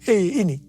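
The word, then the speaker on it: ה: yang terbentuk pada huruf He ini merupakan gambaran celah atau jendela mulut Tuhan yang menghembuskan rohnya perhatikan juga cara pelafalan huruf ini pun seperti orang yang menghembuskan nafasnya Hei nama Abram berubah menjadi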